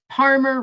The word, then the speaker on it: Parmer: And if you remember, Palmer rhymes with farmer and starts with a P like Paul.